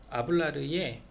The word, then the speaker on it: hablar: 그냥 동사를 보면은 이 주어가 누구겠구나라는 것을 알기 때문에 예를 들어 주신 게 아블라르의 H가 묵음이 있어요. 그래서 HABLAR 그래서 아블라르인데 R, AR 걔를 어미라고 보고 그 앞쪽에 있는 아부를 어간이라고 하면 되겠죠.